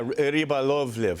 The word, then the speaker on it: Rybolovlev: Who is Dmitry Rybolovlev? Am I saying it right? Yeah, Rybolovlev.